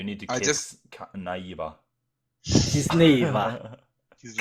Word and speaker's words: Kiznaiver: last part where I think in the anime they said instead of Kiznaiva. Kiznaiva. Kiznaiva. Kiznaiva. Kiznaiva. Yeah, you need to I kiss Naiva. Kiznaiva.